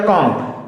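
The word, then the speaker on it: comb: अगला इसको पढ़ता है कॉम्ब, जिसको कंघी कहते हैं, इसको पढ़ेगा कॉम्ब। ये कॉम्ब नहीं होता, ये होता कॉम्ब, COM, कॉम्ब। B का मतलब प्रोनाउंसिएशन नहीं किए जाते यहाँ पे।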